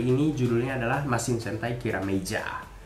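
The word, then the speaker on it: キラメイジャー: judulnya adalah masih santai kira meja atau tiram eder atau Dewa terserahlah kalau kalian gimana Tapi kalau dalam pelafalan bahasa Jepangnya kira micha nah 6 seri ini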